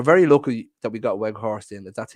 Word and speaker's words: Weghorst: We're very lucky that we got Weghorst in. That's how you pronounce the fella's name, because we need him now with Martial picking up that injury.